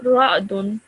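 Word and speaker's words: رعدٌ: Ra'dun. Ra'dun. And again, this tanween at the end, this dhammaten, you have to produce that extended nasal sound at the end.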